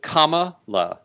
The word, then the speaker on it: Kamala: hard of hearing uh it's comma like a comma like like in a sentence so and you pronounce